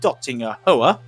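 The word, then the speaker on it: Döttinger Höhe: Down the Dottinger Hoa. As it is the correct pronunciation.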